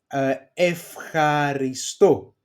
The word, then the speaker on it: ευχαριστώ: They are pronounced, these two diphthongs, alpha epsilon and epsilon epsilon, as af, f, ευχαριστώ, Δευτέρα, you see my pronunciation, and εύκολο. So they are pronounced as af, f.